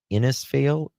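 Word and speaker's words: Innisfail: Uh, Staff Sergeant Steven Pike from the Police Dog Service Training Center in in how do you pronounce that? Inisfail.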